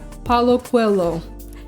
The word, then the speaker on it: Paulo Coelho: will just oh I said it all wrong Paulo Coelho so I said it incorrectly I wanted to